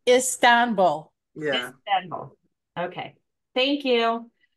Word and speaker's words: Istanbul: So Istanbul's has been, again, I know I mispronounced something. So is it Istanbul? Istanbul?